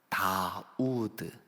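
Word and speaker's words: דוד: 여러분이 숫자로 한번 볼게요 다윗을 다윗을 이렇게 발음합니다 다우드 우리말 번역 성경에는 다윗 이렇게 번역되어 있습니다 자 그러면 우드라고 하는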